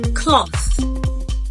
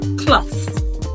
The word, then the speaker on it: cloth: M teeth tooth Thief cloth and bath remember the sound is mispronounced as T so it's not pronounced